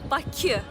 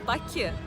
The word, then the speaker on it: Baku: So you can say Baku. Baku. Baku. Yes, Baku.